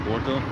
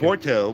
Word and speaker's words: Porto: Sao Martinho de Porto.